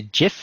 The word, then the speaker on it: GIF: caption and an action it's a jiff or is it gif my English pronunciation I